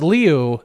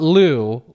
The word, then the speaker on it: Liu: And the first thing was Alyssa Leu, which I think it's pronounced Leu, not Lou.